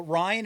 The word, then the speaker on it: Rion: But Ryan is spelled Rion, like lion. Ryan King, Lion King.